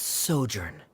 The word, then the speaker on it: sojourn: well is everything clear uh director's osimos how pronounce this word let me see Ah that's sojourn it means to stay for a while this